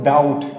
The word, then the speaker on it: doubt: यहाँ पे DOUBT, टी से पहले बी है, बी को हमें साइलेंट करना है तो क्या पढ़ेंगे इसको, डाउट, डाउट पढ़ेंगे, ठीक है।